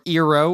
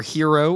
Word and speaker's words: Gyro: We went to Nashville Hot Chicken and Gyro in Hendersonville. Or Eero or Hero or however you want to say it. Apparently pronunciation is regional.